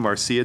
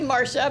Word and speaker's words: Marcia: And I apologize if I ruined your name, Marcia, Executive Director. All right. See, end on a high note. It's actually Marcia, but you're close.